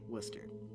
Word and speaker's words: Worcester: from worcester massachusetts and yes that's how it's pronounced uh i grew up right by worcester uh so i did i i don't know